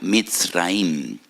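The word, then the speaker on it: מצרים: porque que la palabra Egipto en hebreo se pronuncia misraim y en hebreo hay dos MS dos letras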